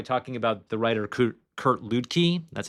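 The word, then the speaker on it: Kurt Luedtke: preface it by talking about the writer Kurt Kurt Ludkkey, that's how you pronounce it.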